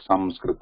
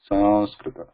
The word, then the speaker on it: Sanskrit: But because it is written like that, people who may not know the Anusvara, they start actually pronouncing it with the N or M, like Sanskrit or Sanskrit, like San, with San, with Na coming there. But Anusvara is this, that sound is following that Sa.